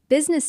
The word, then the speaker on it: business: Business days often sounds like business days. Right, the I in business is very soft, almost silent when spoken fast.